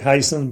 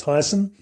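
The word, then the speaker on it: Heysen: It looks like Hyson, but it's Hyson.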